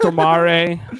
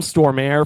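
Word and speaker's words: Stormare: how you pronounce his last name yes it's pronounced tomare uh in in whatever uh I think he's Swedish this was on a podcast once that's the only reason I remember it I'll call him stor air for you Americans thank you uh but but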